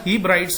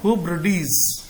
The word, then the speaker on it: Hebrides: कहां पर, among the फॉरदेस्ट जो नेक्स्ट वर्ड है HEBRIDES, लिखा हीब्राइड्स है, लेकिन इसका जो सही प्रोनाउंसिएशन है वो है हिब्रिडीज, हिब्रिडीज।